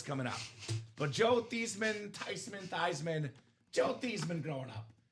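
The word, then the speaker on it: Theismann: So it gonna be Thyman for the Heisman. Changed the name. Didn't quite win, but the name stuck forever. He was forever Joel Tyman.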